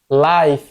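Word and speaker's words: life: ছোট সময় পড়েন নাই আই আই এফই I consonant plus in লাইফ আই আই উচ্চারণ করবো এখানে ই উচ্চারণ হবে না হ্যা ই উচ্চারণ হবে না আই আই হবে লাইফ কেন লিফি হবে না লাইফ হবে লাইফ লাইফ আই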